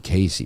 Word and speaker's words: Cayce: Now, Edgar Cayce is a different K-Y-C-E, Casey, right? It's spelled very differently than you would think.